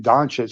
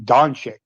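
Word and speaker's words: Dončić: __ ] still mispronounces instead of saying donet she keeps saying donic I'm like dude this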